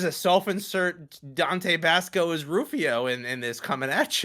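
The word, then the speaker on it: Rufioh: andrew hussey who then made rufio with a silent h at the end a character based off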